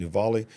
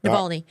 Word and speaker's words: Navalny: And I believe the report goes on to say that over 300 supporters of, how you say his name, Navali, has been arrested as they're protesting. Navalny.